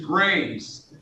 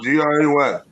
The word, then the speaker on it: Gray: Gray, just Gray, not G-R-A-Y-S.